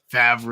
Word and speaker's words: Favre: It's spelled one way, but it's truncated like French, where it's like Favre. It's like Brett Favre. It's like literally the letters are backwards to how you'd read it.